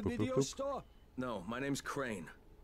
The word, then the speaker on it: Crane: store no my name's crane crane crane rhymes with train and brain and sun and gray and rain and plain and the other kind of plane and and can i